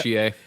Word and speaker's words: Chie: Chie.